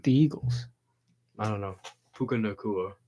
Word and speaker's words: Puka: Eagles I don't know pukaa is how you say his name yeah is maybe offensive